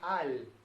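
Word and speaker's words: על: Sobre, en hebreo se dice al, con A, no con E.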